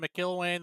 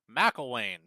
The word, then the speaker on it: McElwain: We've been calling him McIlwain the whole time, but McElwain is, I believe, the correct pronunciation of that.